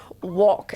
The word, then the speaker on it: wok: And I'm not mispronouncing rock. I'm actually saying wok, as in W-O-K.